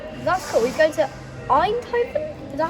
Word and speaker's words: Eindhoven: He's going to Eindhoven? Is that how you say it? Eindhoven?